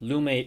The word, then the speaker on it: Lume: Lume is the correct pronunciation for those wondering. I would know because Oscar told me.